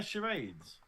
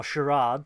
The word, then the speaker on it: charades: episode then yes it's called charades or sherad depending on your dial yeah I I pronounce it charades you common yes go